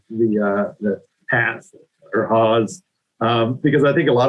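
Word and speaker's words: Hass: And unfortunately, yeah, it is Haas. It rhymes with past, or other things that I probably shouldn't say on a webinar.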